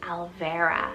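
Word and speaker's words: Alvera: vera spelt a l v e r a alvara super pretty and it's spanish rooted meaning elf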